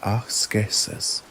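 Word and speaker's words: askesis: The Stoics referred to these exercises as eskeis pronounced akeesis a term from which we derive the modern word aeticism but which for them simply meant training or discipline.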